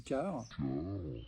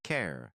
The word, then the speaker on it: care: pour un ubernisme du car je crois qu'il voulait dire care une personne que j'ai eu le plaisir de rencontrer un petit extrait C Éth du car ça se prononce care trouve sa justification dans